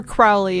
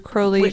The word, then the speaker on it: Crowley: not to mention Aleister Crowley and all of this because or Crowley if you watch modern TV well I've been told it rhymes with holy yeah I just feel